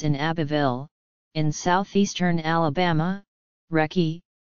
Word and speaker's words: Recy: Abbeville in southeastern Alabama recce pronounced Ricci Corbett found herself caring for six younger siblings after their mother died when she was 17 .